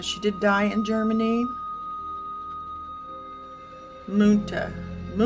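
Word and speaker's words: Münter: Ma Ma is how you pronounce her last name.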